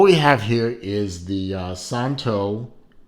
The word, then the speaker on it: Szanto: watch from a company called santo the z is silent as they say on their website so santo it's a small watch